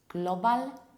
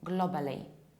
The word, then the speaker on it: global: I bet majority of you pronounce it like global and globally.